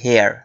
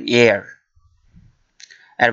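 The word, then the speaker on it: heir: যে শব্দটি সেটা হলো হেয়ার হেয়ার বা এয়ারও বলে অনেকে সঠিক উচ্চারণ এয়ার এর বাংলা অর্থ হলো উত্তরাধিকারী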